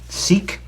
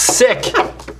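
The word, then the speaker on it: Sikh: Seek. No, it's pronounced sick. It really is. We white people like to say seek because it doesn't sound like sick, but it's sick.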